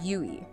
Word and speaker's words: YUI: And that's spelled YUI, pronounced YUI.